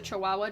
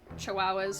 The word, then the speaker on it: Chihuahua: Actually, I like I feel like it could be just a Chihuahua joke that like Chihuahua just have the the the No, no, no, it's gua as pronounced wow.